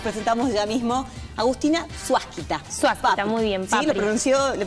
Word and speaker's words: Suásquita: Suásquita, muy bien. Papri. Sí, ¿le pronuncié bien? Perfecto. Suásquita.